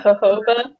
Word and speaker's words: jojoba: saffron oil or i never know how to pronounce it it's like g-o-b-o-b-a or something like that oh yeah jojoba jojoba or whatever that's really cool too um